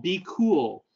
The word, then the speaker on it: BQool: You can use a tool called Be Cool. That's spelled BQOOL.